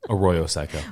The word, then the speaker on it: Arroyo Seco: Arroyo Seco.